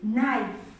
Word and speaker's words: knife: Another word with the n sound is knife. We have a word like knife. This k is silent. So we read this word as knife.